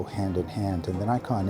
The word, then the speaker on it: Nikon: in the Mekong Museum we have to pronounce it properly Nikon is how you do it so now we